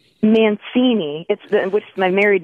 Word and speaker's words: Mancini: Now, your last name is pronounced Mancini. Mancini, which is my married name.